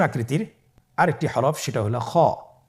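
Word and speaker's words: خ: খ হরফটির মাখরাজ হলো কণ্ঠনালীর শেষ ভাগ হতে উচ্চারণ করতে হয়, কণ্ঠনালীর শেষ ভাগ।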